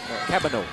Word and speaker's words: Cabagnot: Hindi ang pronunciation ng kanyang pangalan, Cabagno. Actually, he mentioned that, of course, in Hawaii, they don't say Cabagno, they say Cabano.